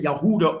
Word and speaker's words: Yehuda: Like the descendants of Yehuda or Huda, which is which is the true pronunciation of Judah.